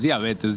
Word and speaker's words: diabetes: Sí, es diabetes, diabetes, diabetes. No es palabra esdrújula, no sí. Tiene acento en la A, es diabetes.